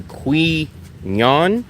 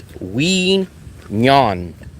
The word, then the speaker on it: Quy Nhon: It's pronounced we, like you and me, we.